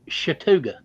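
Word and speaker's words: Chattooga: pronounced chatuga no it's spelled i mean it's pronounced chatuga the indian i looked at them folks down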